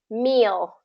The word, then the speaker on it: meal: me there you go so it has that e sound to it so you want it's kind of like you're saying me me meal me meal yeah exactly uhhuh so